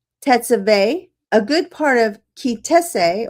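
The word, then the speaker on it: Ki Tisa: As a matter of fact, for the next 5 parshiot, including Teruma, Tetzaveh, a good part of Kitese, or Kitissa, as some would pronounce it, Vayakel, and Pekodeh, this is the primary topic of the Torah's narration.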